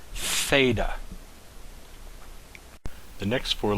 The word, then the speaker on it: theta: Next letter is the letter theta. Theta. Simple. You have a loop with a horizontal line through it. This makes a TH, a th sound. Theta.